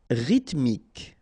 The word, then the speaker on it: rythmique: Rythmique, remember, Y pronounced like E and then H doesn't exist.